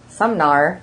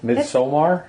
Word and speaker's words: Midsommar: Well, your dyslexia is showing because you pronounced it with an N in there. Sumnar, I think you said. Maybe. Okay. Midsommar?